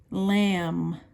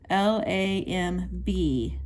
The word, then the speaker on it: lamb: beef beef number eight lamb lamb l-a-m-b so you notice the b is silent you do not pronounce the b so lamb and lamb